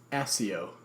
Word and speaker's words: Accio: Why is it pronounced Accio with 2 C's? Just Accio. Well, that's how Jim Dale says it, and that's how I like it.